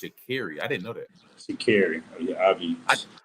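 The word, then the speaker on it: Sha'Carri: them shout out to Shakari and you know the four four by one team you know they they took that thing home so you know you know she said her name is pronounced shakeri I didn't know that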